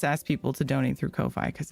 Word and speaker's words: Ko-fi: Did I say it right the first time? Kofi is how you say it. That's why I switched to Kofi because um people can do one-time donations.